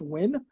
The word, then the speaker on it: Nguyen: the way it's red it's pronounced win but oh there you